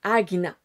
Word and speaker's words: Ajna: Mais son nom, son nom véritable en sanscrit s'écrit Ajna mais se prononce Agna. Donc vous pourrez aller écouter la vraie prononciation par quelqu'un vraiment qui parle une langue plus rapprochée du sanscrit que moi qui parle français. Mais ça s'écrit mais ça se prononcerait agna.